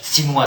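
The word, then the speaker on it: chinois: je recevais des ces sininois sininois parce que au Sénégal on prononce pas le CH ça m'a obligé à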